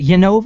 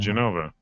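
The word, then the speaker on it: Jenova: Is it Yenova or is it Genova? I don't know. Genova. Okay. We were like, it's Yenova. No, you pronounce the J. You're not Spanish.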